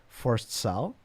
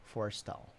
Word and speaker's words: Forstall: the user interface was Forced Sal, if I pronouncing his name correctly. Let me double check here. Forced Sal. Yeah, Scott Forstall. Forstall. That's an interesting pronunciation.